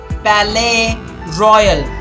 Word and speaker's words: Palais Royal: In a shop at the Palais Royal, guys, it's better not to say the S here, it's kind of silent. It is silent, remember, it's French.